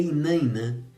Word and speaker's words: Iná: Se escreve Iná, Iná, mas se lê Inanã.